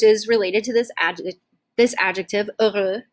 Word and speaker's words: heureux: Which is related to this adjective heureux, heureuse, oui, okay? And just another note with this, we do not pronounce the H at the beginning, okay? So it's actually silent.